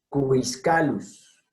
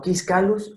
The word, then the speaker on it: Quiscalus: Cubiscalus, no quiscalus ni quiscalus, es cubiscalus. Son dos sílabas distintas, aquellas donde están la U con la I.